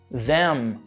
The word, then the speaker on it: them: Por exemplo, se a gente for falar then, é com N, mas them é com esse bilabial que a gente estava falando.